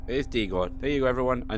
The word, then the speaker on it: Dagon: It is Dagon. There you go, everyone. I now know how to pronounce it.